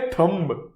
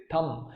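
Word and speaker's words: thumb: हम बोलते हैं थंब. Alright, and this is absolutely wrong. इसीलिए यहां पे हमने रॉन्ग डाल के रखा हुआ है. The pronunciation for इट इज थंब. You don't pronounce the बी. बी is silent.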